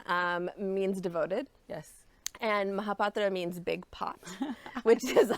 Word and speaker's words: Mohapatra: see it's beautiful sure so my last name is um mahapatra is how i usually say it for everyone because it helped to break it down phonetically the actual indian way of saying it is mahapatra but that patra is